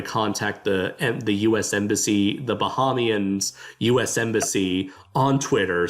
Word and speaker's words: Bahamian: Is it Bahamian? It's not Bohemian. Oh yeah, definitely not Bohemian. I thought it was Bahamian, but the Bahama people say Bahamian.